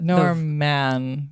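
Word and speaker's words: Normman: called Norma and Norman so Norman is spelled n o r m m a an so all one word and you kind of maybe already get the norm man yes he's wearing he's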